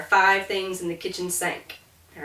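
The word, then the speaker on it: cinq: of a cat's Claws Cat Cat and then sank uh it's morbid but five people sank on a boat okay or there are five things in the kitchen sank all right in the South we can get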